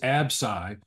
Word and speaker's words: Absci: Ai and this and the other one is absy and it's spelled absci and the symbols absi it